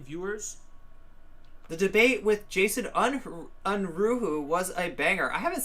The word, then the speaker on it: Unruhe: the debate with Jason Unruhu was a banger. I haven't seen that either. That they should condemn the masses and never have any relevance or power. Unruhe, I always pronounce his name wrong.